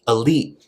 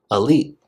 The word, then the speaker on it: elite: have all the money you might notice that I'm not pronouncing that very much this is because it gets stopped it gets cut off when you say it Ali think of the word fight fight this is a common thing that we do in English we cut off that T sound another example would